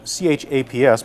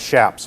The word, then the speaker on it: chaps: It's spelled C-H-A-P-S, but it's not pronounced chaps. They're pronounced shaps with an S-H sound.